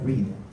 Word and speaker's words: breath: 이렇게 말을 하면서 be calm and just try to breathe.